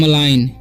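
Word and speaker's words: malign: इसे पढ़ते हम, यहाँ पर भी जो है जी साइलेंट है, ठीक है। तो इसे पढ़ते हैं मलाइन, क्या पढ़ेंगे, मलाइन।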